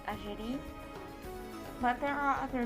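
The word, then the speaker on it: Algérie: algeria or if in i do say in french i would say ajiri but there are other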